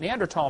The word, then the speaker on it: Neanderthal: By the way, in case you don't know, the Neanderthal, the H is silent, Neanderthal man is named after